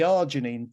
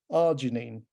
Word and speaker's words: arginine: Lots of people have got the problem with arginine, and it's only 3 syllables.